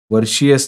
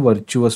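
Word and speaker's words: virtuous: फक्त जे वर्चुअस असतं वर्षीयस न म्हणता त्याला आपण वर्चुअस म्हणतो त्याचा अर्थ सदाचारी तर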